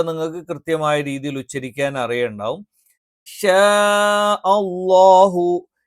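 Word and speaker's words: شَاءَ اللَّهُ: ഇല്ല ഇല്ല എന്നുള്ളതൊക്കെ നിങ്ങൾക്ക് കൃത്യമായ രീതിയിൽ ഉച്ചരിക്കാൻ അറിയുണ്ടാവും ഷാ അളളാഹു ഷാ അളളാഹു ഇവിടെ ഷാഅ എന്ന് പറയുമ്പോൾ ഇവിടെ എന്ത് ചെയ്യുന്നുണ്ട് ഈ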